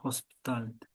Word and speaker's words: hospitality: Hospital, the pronunciation is on the O, Oh, hospital. And with hospitality sector, it's on the A. yeah, hospitality.